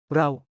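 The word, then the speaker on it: เรา: Row. Men use this in casual friendly settings. Pronounced like row as in rowing a boat.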